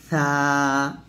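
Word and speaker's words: ث: আলিফ, বা, তা, সা, সা উচ্চারণ করবেন জিহ্বাটা উপরে তাদের আগা লাগিয়ে।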